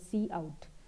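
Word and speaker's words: cout: of one object called C out it is pronounced as C out but it is written as c u t c out please make sure that you don't call it as count or count otherwise you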